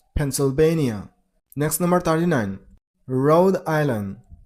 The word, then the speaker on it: Pennsylvania: Pennsylvania. Stress on a third syllable. I mean on basian he receive letter but in American accent in most of the cases turns into bian so it's pencil bania Pennsylvania next number 39 road